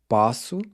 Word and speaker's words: posso: help remind us that it should be pronounced with an open O, as in the A in awesome.